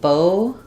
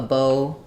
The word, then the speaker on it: bow: So we have bow, like tying a bow in a string, pronounced with O. We have bow with the ow diphthong, take a bow.